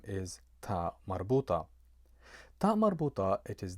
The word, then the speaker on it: ta marbuta: It is always pronounced a, regardless whether it comes at the end of a noun or if it comes at the end of an adjective.